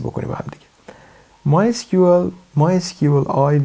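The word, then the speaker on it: MySQLi: دومین API به اسم MySQL I هست، یا خیلی هم میگن MySQL E. در از ترجمه در از پرونانسیشن تلفظ هستش SQL I هست.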